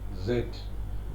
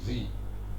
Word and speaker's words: Z: In Britain, it is pronounced Z. In America, it is pronounced Z.